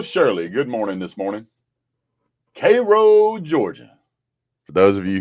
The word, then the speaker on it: Cairo: Cro, Georgia. For those of you who don't know, it is not pronounced Cairo.